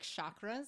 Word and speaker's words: chakra: I like chakras, so I'm going to stick with the sh sound.